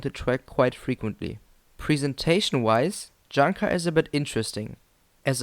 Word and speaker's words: Junker: The ride's name, Junker, is technically pronounced Junker, which is a German company that builds planes.